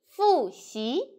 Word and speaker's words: 复习: Fu for wu, fu and xi, xi, fu xi.